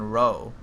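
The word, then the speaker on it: Row: I keep saying Rao, and it's fucking Roe. Dunrid Roe. It's Roe. Shit, I've been saying it wrong the whole time.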